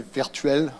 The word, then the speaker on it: Virtuel: So the E before the L, it's an E, not an A. And it's because it's a French word, I should say Virtuel Works, but I pronounce it in the English way because I'm used to it now and we live here.